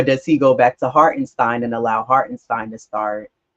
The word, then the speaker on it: Hartenstein: What is it? Stein. Hartenstein. Okay.